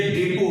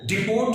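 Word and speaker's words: depot: ये डिपो है, डिपो, डिपोट नहीं है, ये डिपो।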